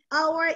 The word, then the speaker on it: hour: H is usually pronounced in English, but there are very few exceptions, and our is one of them. You do not pronounce the H in our.